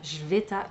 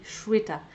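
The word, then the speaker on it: Shveta: ne m'en souvenais plus je savais que c'était pas jveta c'est Cheta alors je l'ai lu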